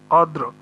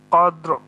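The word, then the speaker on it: قدر: এই জন্য ওয়াকফ করার সময় দুইটা হরফে আমাদের উচ্চারণে নিয়ে আসতে হবে, এজন্য এরকম করে উচ্চারণ করতে হবে, কদ্র, কদর যেন না হয়ে যায়, এরকম হবে কদ্র।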